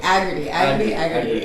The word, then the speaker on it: Agardy: I'm sitting here with Peter Agardy. Is that how you pronounce your name? Agardy. Agardy. Okay. Yeah. In my head, it was this whole time it's been Agardy, but Agardy.